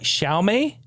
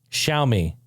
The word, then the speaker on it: Xiaomi: new news hey how about how do you pronounce this phone company X IA o mi shalt me shalt me Wow would have been the last word I guessed in my entire vocabulary shall me shall me show me well shall me x